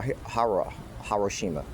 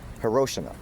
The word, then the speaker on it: Hiroshima: Hariroshima. How do you pronounce it? Hiroshima. Hiroshima.